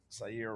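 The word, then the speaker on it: Ceyair: Sayer Wright, but Sayer is spelled Ceyy. Ceyyair. Okay. Sayer Wright.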